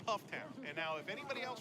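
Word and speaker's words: Pfafftown: Pufftown. Pufftown, that's not wrong. Pufftown. Pufftown. We were told by Pufftown residents, they grabbed me, they did everything but put a gun to me and said it's Pufftown.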